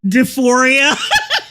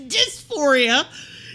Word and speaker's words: dysphoria: for my gender deoria this is a deoria it's dysphoria you you